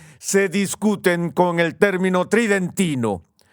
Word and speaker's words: tridentino: discuten con el término tridentino suena como si se pronunciara tridente pero la pronunciación normal tridentino y cuando vemos las